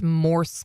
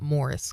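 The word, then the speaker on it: Morse: by the way Sheila it's moris code not Morris code Mor RIS code which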